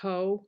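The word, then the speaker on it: Haux: And then I also got, I believe this is pronounced Ho. It's H-A-U-X.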